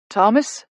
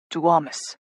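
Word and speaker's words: Tuomas: Thomas. Jake repeats. The Finnish way. Ilari corrects. To Amus.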